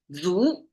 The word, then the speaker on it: 足: Chinese okay this is my specialty Chinese F zo well that's sounds like English okay that's Chinese pronunciation means F and it's it looks the